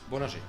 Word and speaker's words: Bollinger: - Bollinger (with french accent) So let's go to the podium: third best?